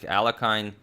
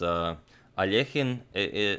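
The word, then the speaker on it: Alekhine: Well, most Americans will pronounce it something like Alakine. I pronounced it like that a long time ago, but in the original Russian, I believe it's Alechin.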